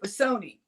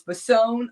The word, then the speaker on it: Bassone: I used to say, Grandma, how do we pronounce our last name? Is it Bassone or is it Bassoni? And she said it's Bassone, like Capone.